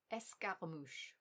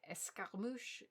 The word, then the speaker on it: escarmouche: Une escarmouche is a skirmish. It sounds like one of those words where the English heard it and wrote it down phonetically, and then it went on its own merry way, changing more and more.